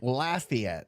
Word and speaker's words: Lafayette: Lafayette, like Laffy Taffy.